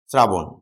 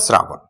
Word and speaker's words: শ্রাবণ: আমি এক্সাম্পল দিই। আমি যদি বলি শ্রাবণ। আমি বললাম ব্যাস শ্রাবণ। তালব্য শ, এটার সাথে কি যুক্ত আছে? র যুক্ত আছে। আছে? আছে। যদি যুক্ত থাকে তাহলে তালব্য শটা উচ্চারণে কি হবে? দন্ত্য স হবে। কি হবে? দন্ত্য স। তাহলে শ্রা এবং মাঝের বর্ণের অ উচ্চারণে কি হয়? ও হয়।